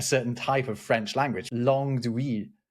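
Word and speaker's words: langue d'oïl: Because even now we're only talking about a certain type of French language, langue d'oui, which means the languages of yes, but like we.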